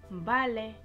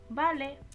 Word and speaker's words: vale: 요거 V, 우베 발음 어떻게 하시면 되냐면 vale, vale, 담백하게 vale, vale 해주시면 돼요.